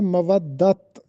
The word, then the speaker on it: مودت: معنی بھی بتانا ہے۔ یہ لفظ ہوتا ہے مودت، میم پر زبر، واو پر زبر، دوسری واو پر شد کے اوپر زبر، تے پر جزم۔ مودت، مودت کا